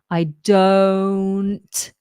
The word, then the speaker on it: don't: I don't don't now don't is often mispronounced as don't because um it looks like a a short o but it's not it's an O I do I don't I don't tunder now